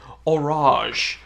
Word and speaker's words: Horage: one of the pages it phonetically sounded it out for me, Horage. So you're not going to call this the Horage, it's the Horage.